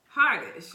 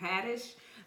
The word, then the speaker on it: Haddish: talks about it with with Tiffany Harnish okay I think that's how you say her name Haddish but he talks about